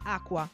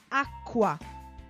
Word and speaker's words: acqua: En italiano hay otra combinación que es CQU, que se pronuncia lo mismo, Q. Pero en este caso la C hace que la Q sea como doble, o sea que el sonido sea más fuerte.